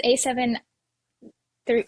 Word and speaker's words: A7 III: A7 like a three eyes A7 three it's three. There's A7 III? Cuz I think it's Roman numerals, right?